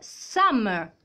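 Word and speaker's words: summer: come si dice state some quindi some ragazzi come vi ho detto state attenti perché some finisce per r quando c'è la r alla fine la r muta quindi same poi abbiamo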